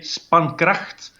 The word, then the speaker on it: Spankraght: In Dutch, you say Spankracht. Spankracht. And in German, Spankracht. I can say it. If you pronounce it in a German way, you could say Spankracht. Spankracht. Like this. Yeah, right on. But it's for English speaking people, it's usually a problem because it's how do you pronounce it? The English people usually say Spankracht.